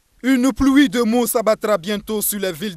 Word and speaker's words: PLU-OUI-DE-MO: voyez qui est découpé qui se prononce pluie de mot comme une pluie de mot mais découpé avec plu comme plus euh oui comme vous l'entendez et deux mot donc pour dire que